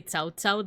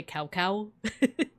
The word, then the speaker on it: Cao Cao: They wouldn't say Cao Cao, they would say Cow Cow.